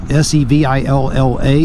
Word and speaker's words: Savilla: dionysi sevilla tex jacket now could it be pronounced sevilla s-e-v-i-l-l-a it could be however when i purchased this i purchased it in california and there were some european gentlemen in there and i actually asked them so how do you pronounce this they told me something in the road there hi i asked them how to pronounce it and they told me it was pronounced sevilla so i'm going to